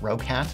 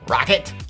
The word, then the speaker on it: Roccat: used to pronounce it rogue hat but apparently it's pronounced rocket as in like man this thing is going to rock it and today we got